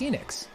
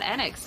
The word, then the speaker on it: Square Enix: to circle back to it being pronounced square nx how do we feel it's kleenex it's squeenix or square enix i think it's enix but they said annex in the stream they could be wrong about it somebody who can